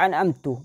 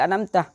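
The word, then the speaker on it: أنعمت: Baca an'amtu padahal an'amtah.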